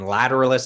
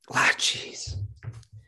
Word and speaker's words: Lateralus: salival survival 1999 and lateralis i can actually say 2001 lateralis tool never makes it easy they don't they don't make lateral they don't lateralise that's again that's the way maynard says it so he wrote the